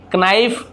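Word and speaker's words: knife: छोड़ दीजिए और पढ़िए नो नाइफ नोट की बस इस प्रकार से पढ़ना के साइलेंट होता है अब देखते हैं डबल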